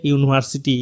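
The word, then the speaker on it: university: এ বসার কারণ হচ্ছে এখানে আমরা ইউনিভার্সিটির ইউটা দেখতে পাচ্ছি ভাওয়েল আছে কিন্তু এর উচ্চারণটা কনসোনেন্ট এর মতো এই কারণে এখানে এ বসেছে D number we had eucalyptus tree in front of our house.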